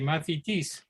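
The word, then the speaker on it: μαθητής: It's pronounced differently, mathetes, but it has the same meaning as it did in ancient Greek.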